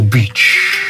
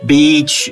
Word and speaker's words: beach: I see you are stretching the sound so that people don't get confused. That idea didn't occur to me, but now that you mention it, it is, as with quite a few words in English, the pronunciation of beach is quite important.